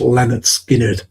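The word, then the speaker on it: Lynyrd Skynyrd: Pronounced Leonard Skinnard."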